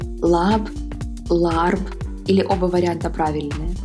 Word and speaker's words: laab: на меня посмотрела на глупые сказала пальцы говорят la общем если произносить правильно полное название блюда будет лапкой что